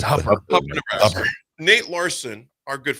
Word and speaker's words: Hooper: Do you pronounce it where she's from, Hooper or Hupper? Is it Hupper? I think Hupper is Hupper, Nebraska. It's Hupper. Nebraska. Nate Larson, our good friend Nate Larson, is no longer at Hupper.